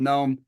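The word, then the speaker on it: Noem: you say it gnome gnome gnome is it gnome yeah was on Trump's list for the VP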